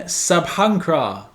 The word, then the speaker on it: Sabhankra: got an absolute Banger Turkish black metal ban sabhra that's how you pronounce it dropped the latest album Nocturnal allergies